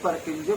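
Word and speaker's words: Purkinje: किसी किसी में हम लोग अगर प्रोनाउंसिएशन देखें तो कोई पुरकिंजे फाइबर्स भी बोलता है, लेकिन परकिंजे फाइबर्स भी इसको याद रख सकते हैं।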